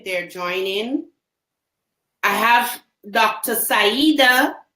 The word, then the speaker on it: Saida: Sida, I want to ensure that I have your the pronunciation of your name correct. Um, is it Sida? Sida.